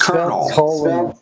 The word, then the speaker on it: Colonel: Like, why did you say that's how it's spelled? You don't know English, It's Colonel. Yeah. Where's the R, Oh my god, you're weak and uneducated. It's Colonel.